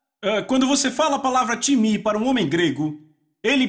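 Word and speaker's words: τιμή: vem da palavra grega timi então s letra t i m e em português pronunciamos talvez TIM não se pronuncia dessa forma em grego se pronuncia timi repitam timi Ok então eu falei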